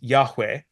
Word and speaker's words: Yahweh: biblical scholarship is that the original pronunciation of the name YH wh that goes on to use in verse 15 was Yahweh there are several good